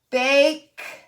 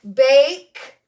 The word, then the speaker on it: bake: i talked about it if we put silent e that means he doesn't make a sound but it's making the a say a and then that word would make sense but ache bake and i'm gonna put